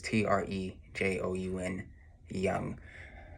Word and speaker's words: Trejoun: It's Trey and John. It's not spelled like that though. It's Trejoun Young.